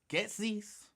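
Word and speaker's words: Goetze's: What is it that I can't pronounce the name? G O E T Z E apostrophe s gettis.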